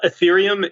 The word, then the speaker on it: Ethereum: Etherum. Is that how you pronounce it? Yeah. Uh, Ethereum is the name of the network.